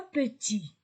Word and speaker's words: petit: Petit, je ne lis pas T, je ne lis pas S.